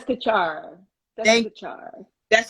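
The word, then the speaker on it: Desikachar: Deskachar.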